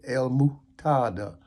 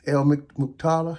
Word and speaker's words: Al-Muqtadir: be called el muktada pronounced as El mutada in Arabic it's like built the l l is translated a l that would mean the and muktada is m-u-q-t-a-d-i-r elementada I think I'm making